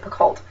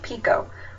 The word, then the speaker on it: Picoult: last name is pronounced Pico you do not pronounce the UL in her name and how I know